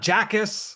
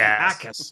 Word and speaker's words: Jacas: It's not Jackas or however you want to pronounce it. It's just Acus. Whether the J is completely silent, which you would know if you click into the draft guide. It's just Acus, no J.